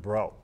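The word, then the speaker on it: Breaux: times before we actually somebody told us hey it's just bro and it was easy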